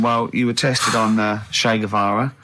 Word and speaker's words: Che Guevara: Che is like shake. And his his surname is like guitar. Right. Che Guevara.